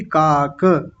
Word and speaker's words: काक: काक नहीं, काक।